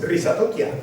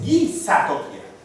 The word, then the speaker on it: Guisatokia: Entonces la R, claro, en un bronce de Botorrita empieza Risatokia. No es Risatokia, es Guisatokia. Guisatokia es un listado de personas.